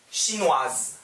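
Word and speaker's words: chinoise: 시누아, 똑같이 하세요. 시누아즈. 시누아, 시누아즈. 중국인 남자, 시누아, 중국인 여자, 시누아즈. 발음 달라져요.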